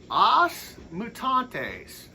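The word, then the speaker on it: Os Mutantes: next I've got o mutantes that's how they say it in Brazil but in America they say it as the mutants that's what it means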